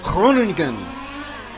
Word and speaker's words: Groningen: So, thank you to Hugo and Laszlo for helping me with the pronunciation of Groningen.